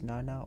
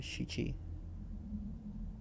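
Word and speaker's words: 七: 7 is pronounced 2 different ways. It's Nana or Shichi.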